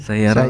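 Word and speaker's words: سَيَّارَاتُ: Kenapa dibacanya tu tidak tun? Jamak. Ini jamak muannas salim kan? Enggak mengikuti yang mafailu kan enggak? Ya. Sayaratu.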